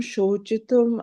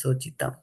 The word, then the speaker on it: śocitum: Śocitum, and not śocitam.